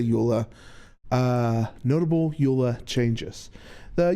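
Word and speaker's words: EULA: ULA or Wha? I I've heard it pronounced both ways. I say ULA.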